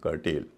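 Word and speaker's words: curtail: करेल सी यू आर टी ए आई एन कर्टेल इन सब में ए आई शब्द के दूसरे हिस्से में है लेकिन उसका उच्चारण लंबा वाला ये हो रहा है इसलिए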